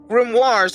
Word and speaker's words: grimoire: bible but they are not known as remorse grimoires are specifically used to teach magic right mars yeah grimoires it's spelled g-r-i-m-o-r-i-e-s but it's pronounced grimoire can i